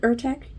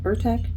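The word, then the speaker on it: Utrecht: I think you spel you pronounce it ertek u t r e c HT ertech I'm not sure but this is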